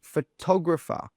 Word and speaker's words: photographer: It's pronounced photographer. That tog sound is pronounced a little bit louder and a little bit stronger than the rest of the sounds.